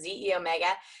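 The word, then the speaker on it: xEO Mega: to be used with ze Omega and you're going to see that with an X but it is it's really like a Greek numeral so it's it's pronounced ze Omega and Microflex vmz and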